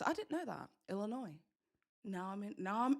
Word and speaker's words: Illinois: Uh the S is silent in Illinois. I didn't know that. Illinois.